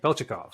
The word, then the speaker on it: Beltyukov: And so with me today is Beltyukov. Beltyukov. Did I get that right? Beltyukov.